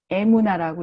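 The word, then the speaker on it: אמונה: 이건 어떻게 읽냐면 이렇게 쓰고 에무나라고 읽어요.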